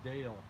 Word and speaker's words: Dale: His name is Dale. Rhymes with pale.